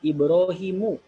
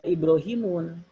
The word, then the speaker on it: Ibrahimu: Ibrahimu, tidak Ibrahimun. Kalau ada orang yang baca Ibrahimun, siapapun salah yang bacanya sekali berustad, tetap ustad nasional misalkan baca Ibrahimun disalahkan.